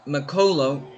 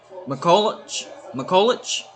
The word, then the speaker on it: McCulloch: Ryan McColo. Hold on, let me pronounce that right. McCulloch. Ryan McCulloch.